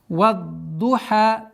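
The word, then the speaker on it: والضحى: Здесь одна из самых распространенных ошибок, это когда звук ха произносится удвоением. Вад-духа, что является грубой ошибкой, потому что добавление звука называется. Это ошибка, и поэтому вад-духа, вад-духа.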